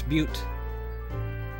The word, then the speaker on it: butte: bound I assume that's Butte and that's how you pronounce it since it's beaut not but Fontana professor Sycamore told